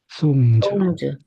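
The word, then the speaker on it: songs: 다음에 그러면 B도 정확하게 발음해 주시겠어요? cups, 컵스, 토즈, toes, 프로그즈, frogs, 나이브즈, knives, 팀즈, teams, 프렌즈, 송즈, planes, plans, 레인즈, 홀즈, pools, 컬즈, curls.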